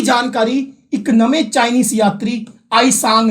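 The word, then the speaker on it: Hiuen Tsang: एक होर चाइनीस यात्री आया सी राजा हर्षवर्धन के दरबार च, आईसांग, टी साइलेंट आईसांग।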